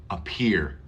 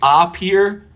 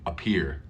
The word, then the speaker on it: appear: inside the King's Castle listen to the a this is the schwa sound uh appear I don't say up here I say appear appear it's a very small sound you almost don't hear it I appear I appear